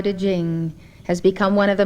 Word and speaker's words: Ching: power spelled t e jing spelled c h i n g jing is